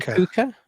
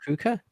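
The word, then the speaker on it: púca: Is it for the puka? Is that how you pronounce it? Puka? Yeah. I'm all in. Halloween is an Irish pagan festival. Puka is ghost in Irish.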